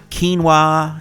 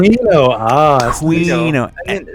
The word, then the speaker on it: quinoa: My mom always pronounced quinoa quinoa. Yeah, that's what people can never pronounce it. Pronounced it quino. That's what I pronounced it. Quino. And then one day I walked past a Starbucks in the summer and people sitting there having their mocha choca latte, half and talking about kale and quinoa, and I'm like, that's how you say it.